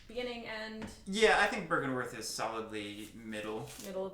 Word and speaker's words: Byrgenwerth: Byrgenwerth.